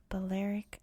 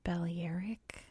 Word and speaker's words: Balearic: First of all, pronunciation, because I've never even known if it was Balearic Islands or Balearic Islands. And one of the things I was very excited about getting into the research for this video was to figure out how to finally pronounce this thing. And it turns out the answer is yes. It can be pronounced. Either way, they're both acceptable.